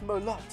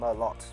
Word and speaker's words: Merlot: Merlot. It's Merlot. It's not pronounced Merlot. It's Merlot.